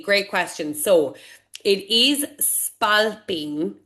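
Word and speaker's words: spalpín: So, it is spalping, right? So, and spalpine phono. Um, a lot of people say spalpine.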